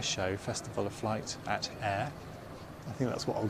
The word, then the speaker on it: Ayr: to Scotland starts on Wednesday to cover the air show Festival of flight at air I think that's what I'll go with from now on to spell it out air it's about Ayr Air Show